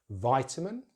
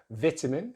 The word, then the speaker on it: vitamin: So stress is in the same place. The main difference is the vowel sound they use in the first syllable. So in British English, it's just the short vowel sound, I, which you see my lips completely relaxed, tongue slightly forward in the mouth, jaws only open a little bit, I. So vit, vit. Then we have the schwa, and then min, vitamin, vitamin.